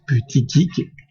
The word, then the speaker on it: Buttigieg: C'est comme ça que ça se prononce, Buttigieg.